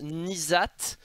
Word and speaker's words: N'Zoth: de de nizat alors je rappelle que ça se prononce nizat alors je crois que c'est le début je suis peut-être pas sûr pour ni mais en tout cas c'est c'est zat à la fin après le truc